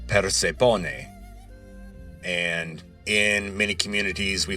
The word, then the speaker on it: Persephone: And one clue there is that the name in Greek is not pronounced Persephone, which would be Persian voice, but Persephone.